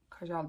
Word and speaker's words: Kajal: Magic Kajal liner diyor Kajal diye okunuyordu diye düşünüyorum şöyle göstereyim size Bu da